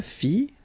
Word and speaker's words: fis: Je fis, final S not pronounced.